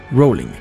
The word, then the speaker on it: Rowling: era fan del mío rowling la primera sílaba se pronuncia el robo como boat en lugar del rap como argumento que se prestaba a